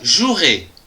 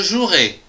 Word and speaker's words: jouerai: du verbe jouer je jouerai attention ici il y a un e qu'on prononce pas demain je jouerai demain tu joueras demain